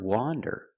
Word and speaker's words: wander: The word wander with the open sound ah, wander, is a verb.